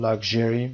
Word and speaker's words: luxury: Luxury تلفظش رو luxury میگیم، luxury sherry صدای ش میدیم و استرسش هم روی لا هست، luxury.